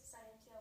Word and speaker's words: scientia: Scientia. Okay. I think unfortunately unfortunately, I'm not going to take it for now because you provide an English pronunciation for a Latin word.